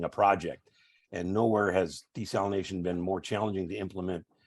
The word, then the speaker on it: desalination: I've already heard uh someone mentioned desalinization while that's acceptable it's kind of an archaic way of pronouncing it uh it primarily uh European pronunciation that's pretty much Fallen by the wayside it's so I I don't usually correct people but I just if you want to sound like a true desalter as we call ourselves uh we we pronounce it desalination and the the uh